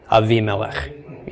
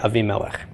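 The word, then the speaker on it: אבימלך: We would pronounce it A-V, Avimelech. Yeah, Avimelech.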